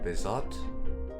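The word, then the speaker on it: Bézout: So, the t is silent.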